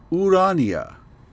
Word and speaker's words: Urania: Urania is the muse of astronomy.